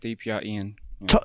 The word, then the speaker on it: DPR IAN: studio gprn hey hey is that so much pronounced correctly um yes that is correct DPR Ian talking to that bad boy eat that microphone